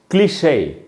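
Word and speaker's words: cliché: फिर से बताता हूँ आपको, the word has an accent mark. ई के ऊपर अगर एक्सेंट मार्क हो तो ई साइलेंट नहीं होगा, उसका उच्चारण होता है।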